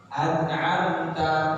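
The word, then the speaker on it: أَنْعَمْتَ: Cara membacanya, mim sukunnya dibaca dengan jelas. Tidak boleh berdengung dan tidak boleh samar. Nah, ya. Contoh ayat an'amta.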